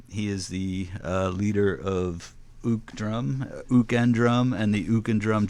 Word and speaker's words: Uke & Drum: I just realized I've been pronouncing your band name wrong all along because I'm the guy that says Uke. I figured it was, but you set me straight here quickly that it's Ook and Drum.